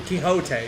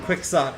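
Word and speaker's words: Quixote: don't like the idea that Don K hot such a fun and interesting name is reduced to Don Quicks slot because of convention in pronunciation but key hot are all extremely English sounding sounds so we're not really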